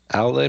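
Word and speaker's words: Aulë: I think it's actually when I listen to it in German, they say they pronounce it like really like Aule, like really really strong.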